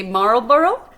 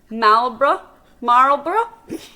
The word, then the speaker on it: Marlborough: How we pronounce Marlborough in Zealand is because of our accents, and we tend to run our sounds together and don't enunciate well.